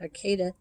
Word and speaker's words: Arcata: to fortuna and eureka arcata is another arcade i guess they pronounce it arcada it's a little town